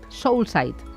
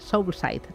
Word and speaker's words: Soulsight: que es CEO y socio, a ver si lo digo bien, de cómo lo pronuncias, soul Soulsite. Soul, como el ritmo alma y mirada. Ah, vale. Soulsite.